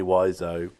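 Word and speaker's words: Wiseau: room written by Tommy wise Oh which we've finally discovered is the actual pronunciation definitely and basically were on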